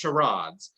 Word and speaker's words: charades: but you can't speak charades parades yeah in britain it's pronounced sharads so if you type in that word he'll you know say sherrods an america charade and he'll say it both way so it's really